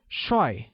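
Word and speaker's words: 帅: handsome in mandarin handsome translates as shoi which is said with the falling tone like now let's look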